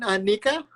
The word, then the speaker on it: Nika: pronounce it Nika? Yeah. Hi, Nika.